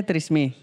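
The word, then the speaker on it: Tresemmé: Iya, bacanya Tresemme. Tresemme, it's word. Trust me, it's word.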